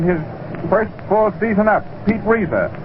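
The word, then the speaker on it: Reiser: Pete Reza, that name is R E I S E R.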